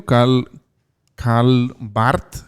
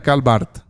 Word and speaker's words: Karl Barth: Ahora, quiero leer algo de un teólogo muy conocido, Karl Barth, creo que así se pronuncia. Karl Barth, sí es, así es.